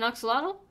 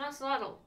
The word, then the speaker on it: axolotl: An axolotl? What did I say? It's an axolotl.